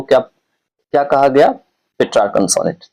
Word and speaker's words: Petrarch: इसको पेट्रार्क भी कहते हैं। स्पेलिंग है PETRARCH, PETRARCH, ऐसा ही है पेट्रार्क। इसको पेट्रार्क या पेट्रार्क कहा जाता है, ठीक है।